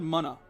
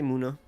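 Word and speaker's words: Munna: point it out that I think I pronounced Muna's name wrong. I said Mana. Do you say Ma or Ma? Nah, I say Muna like a normal person.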